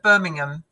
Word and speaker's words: Birmingham: Anything with hat, it's really weird because we do different things like Birmingham. The A is quite quiet. The H is silent.